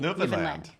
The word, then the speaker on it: Newfoundland: - New-fund-land - New-fun-dland.- - New fun-dland. - Like, understand. - Under-stand, New-fund-land. - That's it.